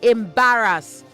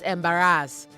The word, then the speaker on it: embarrass: And say embarrass not embarrass. Embarrass. Embarrass.